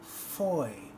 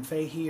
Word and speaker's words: Fahie: of his cds here his name is Vaughn Foy and the last name is kind of tricky aah ie I would have really assumed it would have been Fahy or foggy but apparently it's pronounced fo y boy and